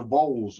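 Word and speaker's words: Vowles: census but uh vod v-o-w-l-e-s is the correct spelling like dowels yeah or bowls but it's just with a v okay okay okay and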